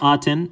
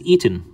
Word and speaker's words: Aten: is written as it's pronounced we don't say aten in egyptian it's pronounced as right as eaten right eaten and this is the way you